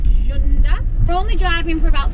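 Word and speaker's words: Cunda: well it's it's spelled like kunda but it's pronounced with a bit of a so it's like jund we're only driving for about 30 minutes today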